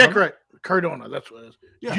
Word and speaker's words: Cardona: Candaro. Cadaro. Matt Cardono. Jack Cardona.